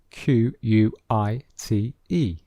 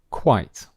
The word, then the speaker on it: quite: pronunciation of this word quite quite so you can hear that it is one syllable and the sound is slightly different so we have quiet